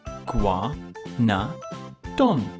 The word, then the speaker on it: Iguanodon: more dinosaurs now it's time for Iguanodon here Gua no done how do you say that again e Gua no done how heavy was Negreanu dog it was as